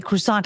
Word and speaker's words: croissant: Okay, that right the I have to pronounce as it's spelled croissant. I'm going to say croissant.